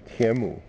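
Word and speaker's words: Tianmou: I think it's pronounced Tien Mou, and T-I-A-N-M-O-U.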